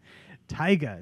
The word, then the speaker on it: taiga: be updated first is Tyga Tyga Tyga that's how you say it Tyga it's like Tiger Tyga Tyga I'll get it